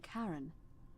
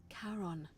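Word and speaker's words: Charon: it we did not notice that only your pronunciation is a little off the name you heard wasn't Karen it was c h a r o n as in Kon the Fairman of I wonder if she did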